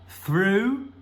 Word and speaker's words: through: na tela, todos têm esse GH que fica muito esquisito, mas olha as pronúncias. Nós temos tough, through e though. Tough, through, though. Mas, cara, olha só, as letras parecem as mesmas, mas são sons completamente diferentes.